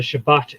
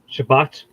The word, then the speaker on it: Shabbat: we say when the Shabbat is done. Shabbat, or Shabbat if you want to be on the Mizrahi end of it, or on the Ashkenazi end of it, Shabbos.